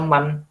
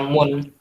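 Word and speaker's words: مَن: Jadi sampai kapanpun ya dibaca man, nggak bisa dibaca mun, ya. Jadi tetap walaupun dia posisinya sebagai mudhof ilaih, dia tetap dibaca man.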